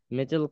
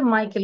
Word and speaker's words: মাইকেল: জোরে পড়বো নীল এ আর্মস্ট্রং বাজ আলরিন এন্ড মিডেল কলিংস আচ্ছা এটা হচ্ছে মাইকেল উচ্চারণটা হবে মাইকেল Collins মাইকেল Collins launch দা